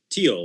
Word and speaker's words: Thiel: and you and Peter is it Peter Thiel is that how you say his name teal like the uh like the color gotcha okay Peter Thiel